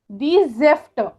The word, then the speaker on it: Säfte: देर ज़ाफ्ट, दी ज़ेफ्ट, दी ज़ेफ्ट. जेफ्ट में प्रोनाउंसिएशन थोड़ा अलग कर रही हूं क्योंकि उसमें आपको स्पेल कैसे करना है, एस ए के ऊपर उमलाउट, जेफ्ट ए उमलाउट FTE.